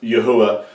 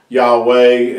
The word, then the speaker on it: Yahuwah: of the name of Yahuwah. That is the correct way of pronouncing his name. Yahweh and Yehovah, Jehovah, Yahweh, all those names are not only mispronunciations, they're really corrupting the name of our Creator.